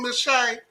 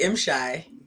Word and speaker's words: M'Shai: How you doing, Miss Shay? I'm doing well. It's actually M-Shy. I want to make sure I say it right because I always say Shay just mess it up.